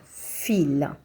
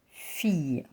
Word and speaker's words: fille: Fille, la fille, and not fille. So I-double-L-E is pronounced E. La fille.